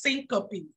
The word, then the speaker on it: syncope: but just recognize it it's pronounced syncope s-y-n-c-o-p-e syncope so basically if someone